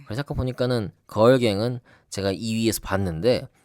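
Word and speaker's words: Grrrl Gang: 그래서 아까 보니까는 걸갱은 제가 2위에서 봤는데 걸이 그 소녀 걸이 아니고 그 쓸 때는 GRRRL 이렇게 네. 쓰네요.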